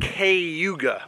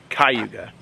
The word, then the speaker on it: Cayuga: And I think it is pronounced Cayuga with a C-A-Y, Cayuga, not Cayuga, Cayuga.